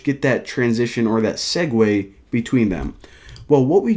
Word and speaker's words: segue: to whenever they click the button now a segue of course that's how you pronounce that word actually didn't even know I